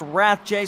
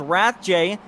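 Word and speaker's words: Rathje: address that Palm wrath's last name is actually pronounced wrath J so I'm going to try and do that as hard as I can so here comes wrath Jay trying it through the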